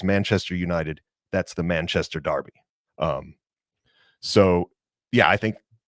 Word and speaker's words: Derby: you hear the word Darby thrown around in soccer it's really spelled like Derby like a derby hat or the Kentucky Derby but in Britain they pronounce it Darby I don't know why